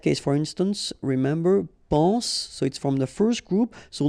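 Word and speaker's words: sois: Okay, then of course être and avoir, so être will become soit, remember final S is not pronounced, soit, then soyons, soyez, all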